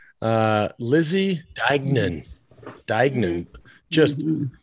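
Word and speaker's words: Deignan: this pronunciation right because this one she throws you off with this this hard g in the middle uh lizzy dagnan just like rolling up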